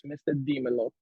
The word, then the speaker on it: Mr. Dimelo: I've had so many ways of saying it, but it's Mr. Dimelo.